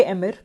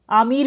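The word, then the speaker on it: Emir: ठीक है, कुवैत के एमिर जिनका क्या नाम है, आमिर भी बोल सकते हैं, एमिर भी बोल सकते हैं, बिकॉज यू नो प्रोनाउंसिएशन इन हिंदी बोलेंगे अमीर बोलेंगे और इंग्लिश में दे कॉल इट एमिर.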